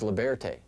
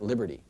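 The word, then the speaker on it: Libearty: This is Leberte, not Liberty.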